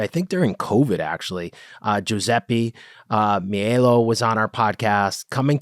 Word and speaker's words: Paiella: You can say Paella. It's very difficult. I know it. It's remember the paella, the Spanish dish made of rice and meat and fish.